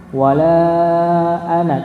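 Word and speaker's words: وَلَا أَنَا: Wala ana, tapi tetap bacanya 1 harakat ya, enggak boleh 2 harakat. Tapi memang kalau di mushaf Indonesia tidak dituliskan. Ya, tidak dituliskan, tapi cara pembacaannya juga pendek, enggak boleh panjang.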